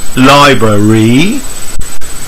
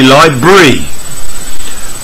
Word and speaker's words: library: and finally number six learners say library natives respeakers reduce this from three to see to two and say library ok so I hope